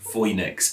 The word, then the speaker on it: Phoenix: some reason though it's safe to assume that the ancient romans would have pronounced phoebe and phoenix like voynich and foy b though for sure we